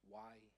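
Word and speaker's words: Weihe: Y-he.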